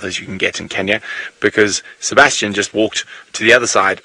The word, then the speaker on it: Kenya: it's also you live you you go to Kenya you don't go to Kenya it is Kenya and Tanzania not Kenya and